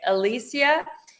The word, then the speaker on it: Elysia: Alisia is an intuitive guide, a motivational speaker, and